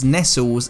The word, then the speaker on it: Nestlé: In 1959, when this van was launched, its branding would have been pronounced as Nestles in the UK rather than Nestlé's.